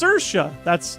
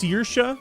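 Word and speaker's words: Saoirse: It's pronounced Sersha. That makes way more sense.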